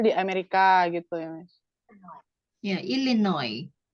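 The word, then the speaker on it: Illinois: Amerika gitu ya Iya illinoi bacanya illinoi s-nya malah enggak kebaca kan ilinoi s-nya enggak ilinoi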